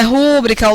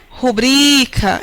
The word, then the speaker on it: rubrica: Porque a mais consagrada de todas as pronúncias equivocadas está no termo rubrica. O termo não é rúbrica, o termo é rubrica.